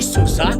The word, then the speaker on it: SUSE: son now doesn't that amusia in Susa NC Sousa the spelling might illusia it's s fu the